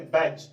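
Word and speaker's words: bags: उसके बाद देखिए सिंगल जे है, यहाँ है ना जी, इसमें एस लगा तो इसको हम लोग बैग्स नहीं पढ़ते, बैज, क्या पढ़ते हैं बैज, इसका उच्चारण ज होगा, बैज, बैग मींस थैले।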